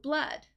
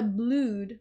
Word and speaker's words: blood: in three years blue blood so notice blue blood the double o in blood is actually pronounced with a short u just like cup blood uh up blood so it's not a blued right blue blood so